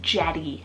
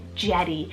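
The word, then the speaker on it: Jettie: something very playful again just like Ruby is Jetty so j-e-t-t-i-e Jetty I love how you can incorporate jet as a nickname for your little girl very powerful and strong and Jetty literally means jet Darby spelled d-a-r-b-y Darby this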